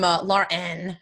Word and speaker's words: Lauren: it's just hey girl I'm Lauren everybody always tells it was a knee or Laura I don't know I don't feel like I ever say my name like Laura but a lot of people I introduce myself they're like hey Laura I'm like did I